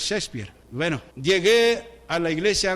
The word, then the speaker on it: Shakespeare: aquellos que hablan de Shakespeare Shakespeare algunos dicen así pero es Shakespeare bueno llegué a la